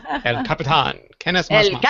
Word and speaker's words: El Capitan: I'm sorry for people who don't know how to say it, but El Capitan.